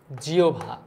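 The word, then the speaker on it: জিহ্বা: বিষয় জিওভা যেটা রয়েছে এটার উচ্চারণ কিন্তু জিওভা রাইট বাঘযন্ত্রের মধ্যে সবচেয়ে সতল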